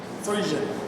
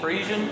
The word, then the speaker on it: Frisian: name of this place frian frian frian Pond like e like long e frean y okay hey well the